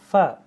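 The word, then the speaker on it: ف: হু এরকম রইন তারপর হচ্ছে ফা ফা কিভাবে উচ্চারণ হবে নিচের ঠোটের নিচের ঠোটের সাথে তোমার উপরে দাঁত লাগবে হ্যা ফা ফা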